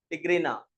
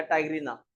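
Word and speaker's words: tigrina: Genus Rana, और species टिग्रीना या टाइग्रीना। दोनों प्रोनाउंस बोल सकते हैं, अलग अलग कंट्री में अलग अलग भाषा होती है, मतलब प्रोनाउंस होता है। इसे टाइग्रीना बोलना।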